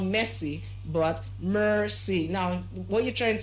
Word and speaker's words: Mercy: Now we also have another name and the name is spelled as M E R C Y. M E R C Y. And the name is pronounced as what? Mercy. So not you don't say messy.